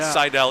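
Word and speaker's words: Seidell: Sidell is in fact correct. It's s e i d. I just want to make sure I was pronouncing.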